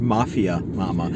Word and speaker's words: Mafia Mamma: It's pronounced Mafia Mama.